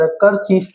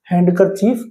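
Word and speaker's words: handkerchief: तो हैंड बोला जाता है। कर चीफ ये थ्री सिलेबल्स का वर्ड है। लेकिन जब इसको इकट्ठा बोलते हैं तो हैंकर चीफ बोला जाता है इसको। हैंडकर चीफ नहीं बोला जाता।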